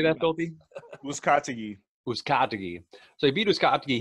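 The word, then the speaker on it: Uzcátegui: Uzcategui.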